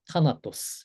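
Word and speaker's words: θάνατος: 타나토스 이렇게 읽으면 되겠죠?네 그래서 여기가 테다죠. 방금 말씀드린 숨소리 들어가는 트입니다. 그래서 티귿 발음으로 하면 되고 타나토스 이렇게 했습니다.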